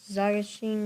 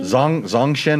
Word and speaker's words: Zongshen: The NC450 Zagashin motor. Hey, you pronounced it as good as I could. Say it again. Zagashin? Zongshen motor. So David Armstrong is talking